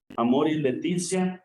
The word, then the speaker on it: Amoris Laetitia: Entramos, hermanos, a este primer capítulo de este documento del que ya nos hablaba un poquito el padre Amor y Leticia, así se dice o así se pronuncia, y podemos traducirlo como la alegría del amor.